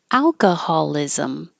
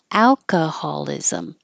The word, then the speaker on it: alcoholism: could be helpful Massachusetts alcoholism start with Al keep your lips back as the stress vowel is a alcoholism and the stress moves